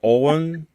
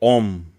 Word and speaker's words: Ogham: it's pronounced Ogham is either Owen or Om. oh, Yeah. The pronunciation is very different from the way it's written.